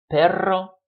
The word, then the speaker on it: perro: So you have to be careful about if you roll your R or if you do not roll your R. Pera, perra, pero, perro, no son iguales. They're not the same thing.